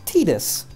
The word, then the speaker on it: Titus: okay mhm I beat Titus or as everybody in this game calls him tetus apparently that's the way you're supposed to pronounce him the way you're supposed to pronounce it and I don't like